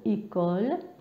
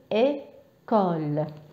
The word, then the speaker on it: école: لما نحط هاد لاكسون ايغو فوق الاو يعطيني صوت اي. ليس صوت اي، يعني هو ليس منغلق، هو مفتوح اي.